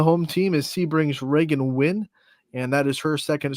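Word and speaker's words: Wynn: also on the home team is sebrings Reagan win and that is her second straight Allstar appearance out of Sebring and if you have a name like win Scotty you better be either a really good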